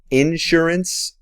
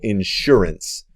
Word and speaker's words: insurance: Anote que está bien pronunciarlo un poquito diferente. Puedes pronunciarlo insurance o insurance. Puedes poner el acento en diferentes lugares en esa palabra.